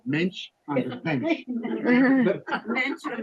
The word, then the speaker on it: Mensch: This is a thing called Mensch on the bench. Mensch on the bench. So I won't mispronounce it. Think of the word bench and switch it to Mensch.